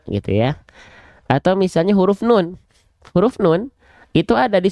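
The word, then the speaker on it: نون: ya atau misalnya huruf nun huruf nun itu ada di surah alqalam ayat pertama Nun walqami W yastun Nah kalau kita enggak tahu nama aslinya bisa jadi kita bacanya Nau ya oke itu iklannya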